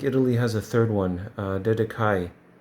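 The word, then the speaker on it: Dedacciai: There is Columbus in Italy, and I think Italy has a third one, Dedekai, it's pronounced.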